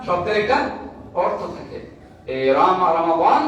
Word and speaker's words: রমাদান: ফজিলত প্রথম কথা হচ্ছে রমজান কি যেটা আরবিতে বলে রমাদান রমাদান মানে হচ্ছে মাস আর রমাদান হচ্ছে আরবি একটি মাসের নাম আরবি একটি মাসের নাম কি রমাদান রমজান আমরা কিতা সহজ উচ্চারণের কই রমজান আরবি একটা মাসের